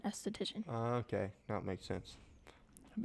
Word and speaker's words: esthetician: Yeah, like aesthetics, and if you do aesthetics, you are an esthetician.